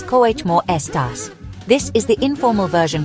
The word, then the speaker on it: cómo estás: The pronunciation is cómo estás.